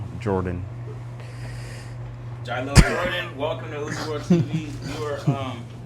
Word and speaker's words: Jiquelil: It's Jiquelil, but the spelling of it is Jiquuill. ILL. Yeah. Jiquelil? No, it's Jiquelil. The QUE is silent. So it's like Jiquelil.